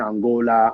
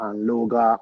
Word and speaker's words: Anloga: You're either saying Angola, Anloga, or all Yeah.